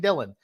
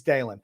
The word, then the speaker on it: Dalen: it at dalen and he kept on saying dylan i'm like dude it's daylen so he finally gets the